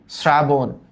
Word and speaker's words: শ্রাবণ: ওকে, শ্রাবণ, শ্রাবণ, এখানেও কিন্তু এস এর মতো উচ্চারণ হয়েছে। এস এর মতো উচ্চারণ হইলেই হবে হচ্ছে শ্রাবণ, প্লাবন।